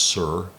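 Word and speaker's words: Suhr: I think it's pronounced sir s uhr who was the assistant coach to Chuck Daly.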